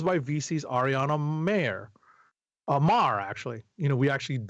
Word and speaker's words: Maher: letters by VC's Ariana Mar, actually. You know, we actually, I think I decided unilaterally that we were going to pronounce it like Bill Maher.